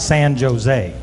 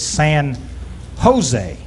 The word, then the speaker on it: San Jose: heritage and everything and in the spanish language the uh the jays are pronounced as h's it's san jose well excuse me mr